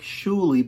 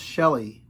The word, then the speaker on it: Shueh-li: it's spelt s-h-u-e-h-l-i so it looks like shulie but it's pronounced shelley and it's funny because